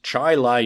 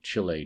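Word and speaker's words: Chili: rules of pronunciation should be buena but it's pronounced buna it happens so it is chai lai new york that lincoln went to pass through and not chile new york as i had said sorry about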